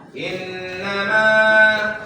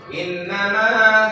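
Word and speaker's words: إنما: Innama ma. Innama, jangan terlalu panjang.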